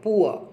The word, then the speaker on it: poor: Example अगर मैं आपको दूं तो पुअर का देखते हैं, पुअर POOR, ऊ आया तो पै का पी नॉर्मल बनता ही है, ऊ का ये बना और ए का ये बन गया, और रे इसमें साइलेंट होता है तो हल्का से ऐसे करके ज़बरदस्ती लगा दो, बस ये पुआ हो गया आपका, पुआ, पुआ, राइट।